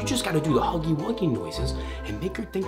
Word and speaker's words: Huggy Wuggy: a real ego okay Huggy wuggy no not like that what do you mean that I said his name no but you got to say it like this like hugy wagy you know but you're